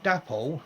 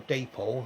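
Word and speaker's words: Dapol: then a company called dapo or depol i call it that was something pronounced at day pool they they built this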